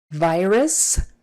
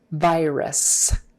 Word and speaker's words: virus: about that word lately okay again v make sure you pronounce the v and not a b virus virus you can say virus if you can get lazy with that second syllable and make it like a virus virus virus but make sure you get that stressed syllable bowel correct virus not virus not varus it's a virus very strong hard eye there long eye virus visiting hours visiting